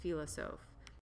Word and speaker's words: philosophe: Now notice the term philosophe. That is how you pronounce that word, philosophe.